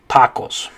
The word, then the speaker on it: tacos: was an english word if it were an english word we'd probably say tacos or tac tacos or tacos or something like that right but the correct way to say in spanish is tacos okay all right um